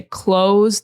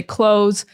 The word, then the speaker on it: clothes: But in my experience, it's totally normal and fine to just say close the same way that you would say close the door. So you can just make that Z sound, that hard S sound at the end, and that's it. You don't need the TH. You can forget about the TH and just say close. That's the way that I say it.